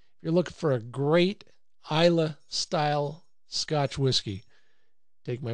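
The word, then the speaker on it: Islay: that comes from the island they call it ila over there it's build is La why I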